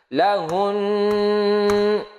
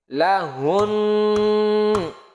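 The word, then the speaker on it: لَهُنَّ: Cara mewakafkannya adalah suara hun ditekan dan ditahan 2 harokat. 1, 2, 3. 2 harokat 3 ketukan. 1, 2, 3. Lahun. Oke. Lahun. Itu kalau diberhentikan bunyinya seperti itu.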